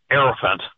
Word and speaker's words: hierophant: The way the word hierophant is pronounced is he Heirophant.